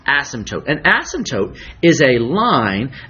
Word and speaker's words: asymptote: name it's called an asymptote notice I pronounced the P usually we don't say the P this isn't asymptote asymptote an asymptote is a